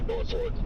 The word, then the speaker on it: Norfolk: Is it Norfolk or Norfork? Not from Nor, but I like I've lived here my entire life and it's always been Norfork. We don't say it how it's spelled.